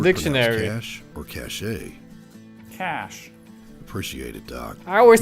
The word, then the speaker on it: cachet: The man can pronounce every word in the dictionary. Cash or cachet? Cash.